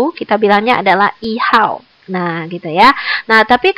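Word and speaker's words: 号: Satu itu bacanya adalah hao.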